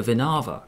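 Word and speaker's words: Winawer: The classical variation, you can play bishop b4, which is the Winawa variation, or the Vinava variation. I think the W's are pronounced as V's.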